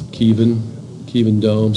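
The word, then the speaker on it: Kevin Dome: It's spelled like Kevin, but it's Kievan Dome.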